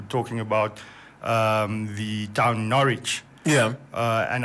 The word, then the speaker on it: Norwich: about um the town norwich yeah uh and i'd pronounce it norwich yeah um and it's obviously having a sign on silent w so so no no